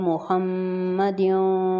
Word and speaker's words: محمد: گے، وعلی آل محمد، اگر ہم یہاں پہ رکیں گے تو اس کو قلقلہ کریں گے، اللہم صلی علی محمد وعلی آل محمد، یہاں